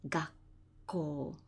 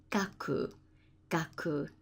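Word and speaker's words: 学校: here what happens is you abbreviate the gaku and it becomes gak gak next we've got primary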